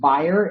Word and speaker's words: Bayer: I can tell you that it's pronounced Bayer if you are speaking German. It's pronounced Bayer if you're speaking English.